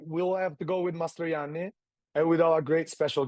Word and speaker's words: Mastrojanni: The name of the winery is not Mastrojanni, is Mastrojanni. The J you read as an I. Yeah, Mastrojanni.